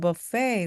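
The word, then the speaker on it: buffet: go 제일 먼저 부페는 버페이입니다 불어에서 왔어요 그래서 발음이 조금 이상한데요네 오늘은 부페 가자라고 할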